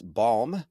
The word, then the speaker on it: Balme: Today's guest is Chris Balm, like lip balm, uh leader, author, and speaker, and founder of Hakuba International School.